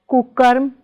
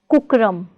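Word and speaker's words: कुकर्म: It's kukarm, not kukram.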